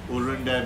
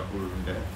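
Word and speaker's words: ಉರುಂಡೆ: So if Rebecca's pronunciations are a little off, the Anglo just comes out with a urunde, but it's called urunde.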